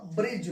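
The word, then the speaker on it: bridge: तो इसका उच्चारण क्या हो जाएगा भाई, इसका उच्चारण हो जाएगा बजट, ये हो जाएगा आपका बजट। ठीक है, ये हो जाएगा ब्रिज।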